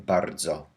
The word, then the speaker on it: bardzo: We need to pronounce each sound Z whenever it doesn't have an I, as in bardzo or dzwon.